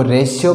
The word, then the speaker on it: ratio: ऐसे ही RATIO रेडियो, इसको रेडियो न पढ़ के इसको रेशियो पढ़ा जाता है, रेशियो यानी अनुपात। ठीक है, क्योंकि हमें पता है टी के बाद में IO आ जाता है तो टी का उच्चारण क्या होता है, से होता है, यानी रेशियो, रेशियो यानी अनुपात है।